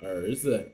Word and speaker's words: 儿子: bit of attention that in this word 儿子 and 耳朵, the second syllable, okay, or the second character should be read as a neutral tone. Okay, there's no tone mark above it, so try to be a little bit lighter. 儿子耳朵.